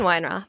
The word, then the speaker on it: Weinroth: Weinroth? Weinroth.